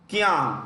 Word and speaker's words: Qiang: Prime Minister Li Keqiang, Li, Qiang, QIANG.